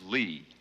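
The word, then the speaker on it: -ly: see you next week this is Lee it's spelled l-y and it's very useful let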